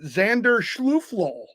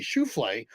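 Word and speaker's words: Schauffele: Fitzpatrick and Xander schuf I'm just gonna keep mispronouncing his name because I know it irritates tons of golfers when I mispronounce his name Z Xander sh sh shalof so I'm just gonna every time I say his name I'm GNA mispronounce it on purpose because it should be shule but everyone let me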